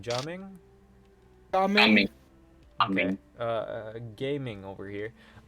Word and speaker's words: Gaming: How do you pronounce his name? Jaming? Gaming.